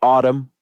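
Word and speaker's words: Atum: is another weird name it's called Autumn it's spelled a t u m their last album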